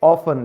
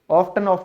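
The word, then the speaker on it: often: अक्सर, यहां पे टी क्यों साइलेंट हुआ, आपका EN की वजह से, इसे कहेंगे ऑफन। लेकिन आजकल ओल्ड इंग्लिश में लोगों ने इसको दोबारा से ऑफ्टन बोलना शुरू कर दिया है, तो ये आप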